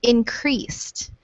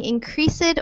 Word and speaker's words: increased: And these two words here that have an ED ending, diffused and increased. These both have a silent E here. So instead of saying increased or diffused, we would just say diffused and increased.